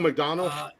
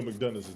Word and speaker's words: McDonough: your name again mcdonald mcdonald mcdonald donald it's spelled different it's not mcdonald but uh but he